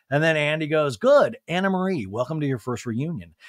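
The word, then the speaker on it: Annemarie: And Andy's like, and let me clarify, it's Anna Marie. And Anne Marie goes, Anna Marie spelled like Anne Marie. It's a Dutch name.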